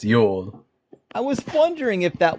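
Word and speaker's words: Jul: The J is pronounced like a Y in those Scandinavian um um languages, so it's pronounced Yol.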